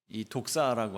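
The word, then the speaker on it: δόξα: 했습니다만이 원어 성경을 보시면 동일한 단어입니다 독사 우리말로 좀 그 우리말로 발음하면 조금 이상한 어울리지 않은 그런 뜻이 됩니다만이 독사라고 하는 것은 영광을 뜻하는 헬라어입니다 오늘 우리가 읽은이 복음서의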